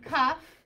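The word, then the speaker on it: כּ: So this is kaf, because that dagesh is sticking in its throat. So it's keeping it a hard K sound.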